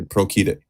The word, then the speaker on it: procedit: It's not you're pronouncing the C like we would with Spanish, but it's actually procedit.